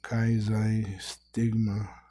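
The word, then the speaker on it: chi xi stigma: Kaizai stigma.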